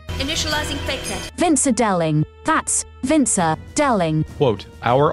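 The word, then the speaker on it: Vinzer Deling: Vincer Delling.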